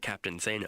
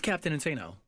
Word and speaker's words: Captain Insano: if it's captain Insano where's that captain say no it's captain Insano captain Insano or is